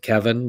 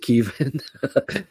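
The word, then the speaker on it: Kevan: And I'm glad I did, because I just said Kevin, but they do pronounce it Keevan.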